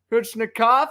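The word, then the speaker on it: Kochetkov: Still having a little bit of trouble pronouncing that name. Let's confirm starting goaltenders. It is Kuchnikov.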